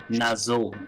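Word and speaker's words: Nazxul: Is it looking like the only way to get through to this guy was with a Nazul is how you pronounce that.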